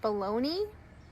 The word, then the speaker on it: bologna: So this word is actually pronounced bologna.